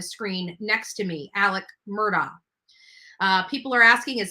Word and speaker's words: Murdaugh: people are asking is his name Murdoch or Murdock it's Murdock so and you can hear him in his um in the testimony and everything if you listen to how they're pronouncing his name it's Murdoch so it's the murder